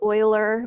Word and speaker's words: Euler: math swiss mathematician leonard euler it sounds like euler but it's spelled e-u-l-e-r